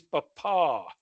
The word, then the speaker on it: Papa: The correct way to see P on the radio with the emphasis is Papa, with the emphasis on the last A.